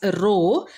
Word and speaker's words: rho: section and this term row row this is pronounced as row and that is the resistivity okay that is